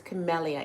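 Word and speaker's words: Camelia: my name is chamelia there are people who pronounce it chamia chamelia all kind of different ways right but the correct pronunciation sorry just washing my hands but the correct pronunciation for my name is is chamelia it's spelled c a m e l i a and it says the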